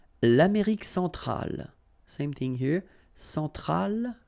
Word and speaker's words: centrale: Centrale, remember, E-N, nasal, so it goes in your nose. En, centrale.